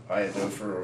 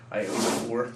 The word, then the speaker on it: iodophor: a sanitizer, which is iodophor or iodophor, depending on how you feel like pronouncing it.